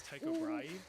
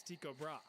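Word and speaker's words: Tycho Brahe: Now, trust me, for the life of me, I really want to pronounce this guy's name as Taiko Brai, but apparently the proper Danish pronunciation is Tiko Bra.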